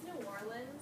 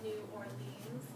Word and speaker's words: New Orleans: Okay, so first of all, the pronunciation of the city, it's New Orleans, not New Orleans, which I think a lot of people I didn't know how to say before I went.